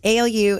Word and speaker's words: Alu: shockingly so many people pronounce it incorrectly and spell it wrong um ALU it's a a originally Sicilian it was Illumina